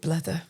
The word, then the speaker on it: blether: Scottish term, I think, blether. Talk. Is it blather? Well, I think they pronounce it blether.